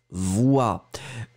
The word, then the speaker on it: voix: Alors effectivement, hein, effectivement ici, une voix, vous l'écrivez V-O-I-X, une voix, et donc vous les prononcez exactement de la même façon que le mot précédent.